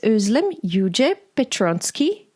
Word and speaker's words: Özlem Yüce Petronczki: My name is Anna Teider, and my guest today is Özlem Yüce Petronczki. Did I pronounce that well, Özlem?